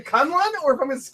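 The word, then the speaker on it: K'un-Lun: The Mystical City in Iron Fist, I have always pronounced Kunlun. Yeah. Because of the way it's spelled, the U's wouldn't be pronounced the same way. So it reads to me as Kunlun. It's Kunlun in the new show.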